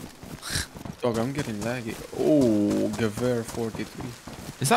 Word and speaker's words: Gewehr: Oh, Gewehr 43. Is that how you say it, Gewehr? Yeah, Gewehr.